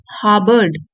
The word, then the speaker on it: harbored: From an early as, एक बहुत ही कम उम्र से ही, बचपन से ही, शी हार्बर्ड, आर साइलेंट है, हार्बर्ड a deep fascination with flight.